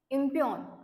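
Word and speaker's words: impugn: आहे next word आहे इमपन आय एम प य जी एन इमपन अस याच काय प्रोनन्सशन आहे याला जी सायलेंट आहे याच्यामध्ये अस म्हटलं जात याला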